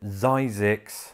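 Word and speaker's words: Zzyzx: But despite all of that, Zix is still around to this day, except locals pronounce it Zyzix.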